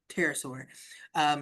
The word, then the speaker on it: pterosaur: But that is a very huge pterosaur, which like pterodactyl, pterosaur. There is a silent P in the beginning of that, It's just like in a case big you want to scary spell bird, it.